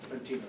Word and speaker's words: Trentino: Did I pronounce that correctly? Trentino, yeah.